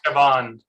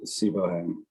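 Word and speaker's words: Siobhan: The pronunciation is Shaban. There's 2 different pronunciations of that name, and that one is Shaban, not Sibohan.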